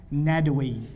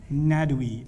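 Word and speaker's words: Nadwi: write that name down Akram not we akr am Akram Ned away that's how you say it in Syria Ned we na da WI or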